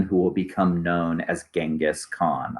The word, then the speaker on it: Genghis Khan: will become known as Genghis Khan I believe the alternate pronunciation you here is Jenga sook on the British documentarians prefer jenga's so there can be some